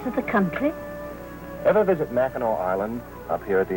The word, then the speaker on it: Mackinac: the country ever visit Mackinac Island up here at the end of Michigan no it's not too far from here you take a boat over it's the place that spelled Mackinac and pronounced Mackinaw why is that I've